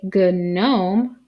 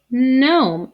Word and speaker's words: gnome: we just say net just like this word gnome we don't say good gnome we say gnome the g is silent